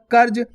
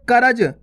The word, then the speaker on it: कर्ज: तो अपने बन गया कर्ज। अगर बोलते हैं करज तो दोस्तों पूरा राज आता है इस प्रकार से, देखो करज 3 अक्षर वाला शब्द बन गया। अपन बोल क्या रहे कर्ज, तो यहाँ पे क्लियर पता पड़ेगा आपको।